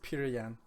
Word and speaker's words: Petr Yan: calling peter peter yan it's p-e-t-r i'm not sure how to correctly pronounce that i'm going to say this peter yan and he has got